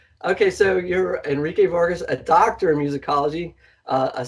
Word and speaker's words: Enrique Vargas: not from a school so you you are Enrique Vargas I pronounce that correct yeah look at director of